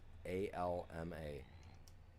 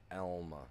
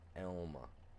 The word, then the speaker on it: Alma: A-L-M-A. Elma, not Alma. Just make sure everybody gets the pronunciation right. Elma, not Alma, even though it's A-L-M-A.